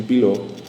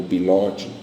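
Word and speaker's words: Bitot: pessoal isso daí são as manchas de bilô ou bilot dependendo da pronúncia tá são bastante características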